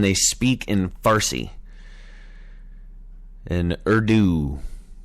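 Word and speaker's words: Urdu: speak in fary and ero oh that is how you say it okay all right ero Ur du ero see we're all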